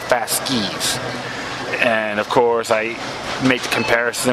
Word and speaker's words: fasces: about the comparison with the fashes or fask excuse me that's they how you pronounce it fast skis and of course I